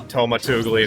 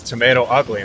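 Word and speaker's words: TomatoUgly: I was pronouncing it Tomatugly as well, and then someone was like, it's Tomato Ugly, and it's like, oh, that makes sense.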